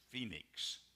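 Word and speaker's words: Phenice: they might Attain Venus one pronunciation of that is Phoenix that's a modern pronunciation and spelling of it this is Phoenix and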